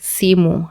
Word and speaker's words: simu: A phone in Swahili would be simu. How you write simu is S-I-M-U. And that's a 2-syllable word, simu. Right. And as you just read it as you write it.